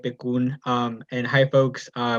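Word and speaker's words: PCUN: thanks jamie uh yes he said it right beccoon um and hi folks uh my name is i use he him and pronouns i'm the policy manager at bakun oregon's farmworker union um and today i'm gonna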